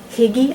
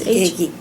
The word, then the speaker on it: hygge: Katrine, in terms of values, there's a lot of talk now about Danes and hygge. I don't know how to pronounce it, but it means comfort and warmth and sitting in front of the fire with your family.